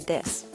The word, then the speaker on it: this: misunderstandings is the word this when ukrainians pronounce it with a z sound instead of a th sound it can be confusing